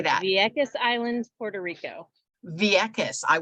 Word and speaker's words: Vieques: And you're going to have to tell me, how do you pronounce the city in Puerto Rico? How do you say that? Vieques Island, Puerto Rico.